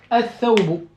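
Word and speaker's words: الثوب: Donc le lam ici, il n'est pas prononcé. Donc on a dit, on fait l'assimilation. Donc at-tawbu. At-thawbu.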